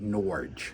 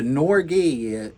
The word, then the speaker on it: Norge: But everybody around here has always called it Norge. Yes. But the Norge, some Norwegians came through one time and they said it's actually pronounced Norge.